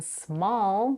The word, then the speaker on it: small: A's are pronounced differently in small we have a vowel a as in father in plastic as in